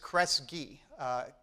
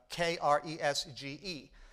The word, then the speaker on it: Kresge: His real name is Kresge, Kresge. And that was hard to pronounce, so he decided the G sounds like a K anyway.